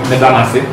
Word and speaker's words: medano ase: So medano ase, it sounds when we pronounce as medanase, but to write it